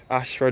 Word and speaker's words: Ayshford: Ashford is spelled A-Y-S-H-F-O-R-D.